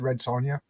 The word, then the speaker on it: Red Sonja: Sonja or Red Son I always say red Sonia but there is a j in it I'll say red am I saying it right red well te the movie said red Sonia I'll say red Sonia then so I typed in